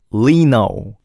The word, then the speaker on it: Lee Know: It's totally okay for you to say Lino because it's meant to be that way.